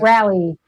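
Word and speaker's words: Raleigh: Come to Ra Riley. Is that how you say it? Rally.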